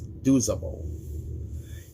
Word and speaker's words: Duzable: Pacific is Samford at Baylor, James Wessling and Liger Duzable, or Lager Duzable. I keep getting his last name wrong, but it's Duzable.